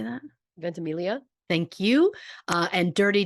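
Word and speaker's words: Ventimiglia: Is Us Milo how do you say that ventimilia thank you uh and Dirty Dancing Patrick Swayze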